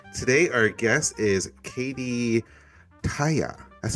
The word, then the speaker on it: Tahja: Today our guest is Katie Taya. That's how you pronounce it, right?